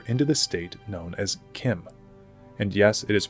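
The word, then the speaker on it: CHIM: the state known as Kim and yes it is pronounced Kim I know it deeply upsets me as well but the CH is pronounced as a k also before we move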